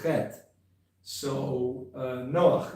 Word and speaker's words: Noach: Sometimes there's a spelling n o a c h, Noach, cuz that's probably the correct way to pronounce the the het, that is in Hebrew his name, noon uh I guess a column and het, right?